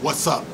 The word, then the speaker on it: Wutsup: And this dude, his name is, I'm gonna pronounce it Wutsup. Okay, what's up? That's W-U-T-S-U-P.